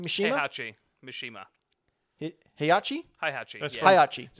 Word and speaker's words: Heihachi: And for the PlayStation 2, you had Hinachi. How do you pronounce that name? Mishima? Heihachi. Mishima. Heihachi? Heihachi.